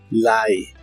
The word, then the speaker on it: lie: Li que significa mentir se pronuncia como si tuviera una a antes de la i pero la e del final no se pronuncia Li Lie y usaremos el verbo